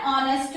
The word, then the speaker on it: honest: The next children, an honest man. Now here it begins with H. H is consonant, but this word begins with vowel sound.